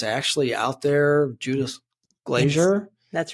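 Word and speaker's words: Glaser: Judith Glazier. That's right. Did I pronounce that right?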